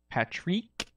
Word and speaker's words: Parik: So we got JJbruhh, myself, the dude, Patrick, that's how you pronounce it.